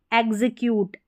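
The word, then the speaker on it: execute: से देख लें कि दो स्वरों के बीच में एक्स आता है जब दूसरे वाउल को जोर देकर बोला जाता है, तो वहाँ पर एक्स को ये वाला इसका उच्चारण आधा ग और ज इसका प्रोनाउंसिएशन होता है।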